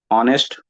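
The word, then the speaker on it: honest: एन ई एस टी अब इसमें letter तो एच है लेकिन इसको जब हम लिखते हैं या प्रोनाउंस करते हैं तो ऑनेस्ट ऑनेस्ट इसके प्रोनंसिएशन में जो है ना साउंड वल की आ रही है इसलिए ए ऑनेस्ट मैन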